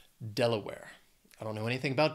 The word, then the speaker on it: Delaware: states next is Delaware has three syllables stresses on that first syllable Delaware I don't know anything